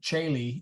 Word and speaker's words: caeli: All Caeli, A-E, Caeli, O-E, and Caeli, just straight E, were all pronounced the same.